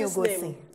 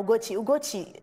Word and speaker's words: Ugochi: Some people, they call me Ugosi. But now, Ugochi, you know, say me, I just put that double C as a fizzy.